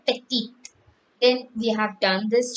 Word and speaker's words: petite: important note we have when there is an e after the last consonant in a word the consonant is pronounced like ethiopium we say etudio if it is and if you have e there we say petite then we have done